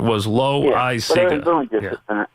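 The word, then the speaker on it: Loáisiga: We were given Loweyeseega is how they wanted it pronounced.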